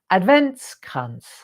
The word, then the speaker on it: Adventskranz: So we're going to concentrate on other lovely things, loveliness, joyful things, fun things, word searches, how to pronounce Adventskranz. There you go. Now you've heard it. Adventskranz.